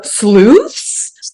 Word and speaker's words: Sleuths??!?: in general and also SLO and it's required to pronounce yeah you have to pronounce it like that punctuation is included it's not a suggestion